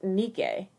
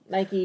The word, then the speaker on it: Nike: for yeah um but if you were going to go with the actual pronunciation of the greek goddess name to the best of our knowledge it is pronounced nikkei which i think is